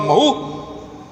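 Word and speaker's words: Mhow: प्रदेश में था और महू छावनी थी और मह को अगर स्पेलिंग करेंगे तो एम एच ओ डब्लू आता है यह एम एच डब्लू को हिंदी में लोग महू बोलते थे लेकिन ये शॉर्ट फॉर्म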